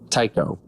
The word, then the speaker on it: Taiko: Taiko. Not taco, for sure. No, and definitely not Taco. All right. Tycho. So the A is silent.